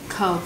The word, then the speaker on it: of: quen thuộc thôi, think of you, think of you. Vâng, cái phát âm đúng là think of you chứ không phải là feel, bởi vì âm kết thúc của từ of là âm V.